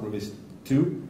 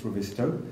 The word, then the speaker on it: Revizto: Again, we were actually speaking to somebody in the hall earlier on about how to pronounce Revizto. So it's not Revizto, it's Revizto, which means visual check in Latin.